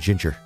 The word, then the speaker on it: ginger: to do my best like G and ginger that's a soft that's a soft G hard G is G softy as J that's that's how it